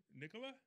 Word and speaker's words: Nikola: i like apple is one of my favorites pronouncing it correctly nicola n-i-k-o-l-a because i thought it was supposed to